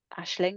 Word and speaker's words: Aisling: yeah, So Ashling. on Facebook, it's Ashling, and that's actually spelt not Harriet, not phonetically. What So you? so your name is spelt like AIS Yeah, L. So it's AISLING.